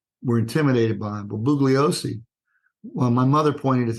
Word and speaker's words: Bugliosi: How does he pronounce his name? Bugliosi.